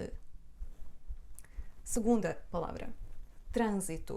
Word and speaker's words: trânsito: exemplo não nunca ninguém mas este ano é só um sinal da nasalidade de letra A portanto isto na verdade é pronunciado assim trânsito trânsito Não é trânsito portanto Isto é o